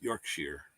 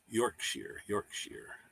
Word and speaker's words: Yorkshire: It's pronounced Yorkshire. Yorkshire.